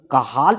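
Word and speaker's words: Cajal: This superior कॉलिक्युलस is having the interstitial nucleus of सी ए जे ए एल काहाल is pronounced जो कि upward gauge के लिए responsible है।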